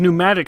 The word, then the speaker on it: pneumatic: start with a k' why does pneumatic start with a p apparently we can just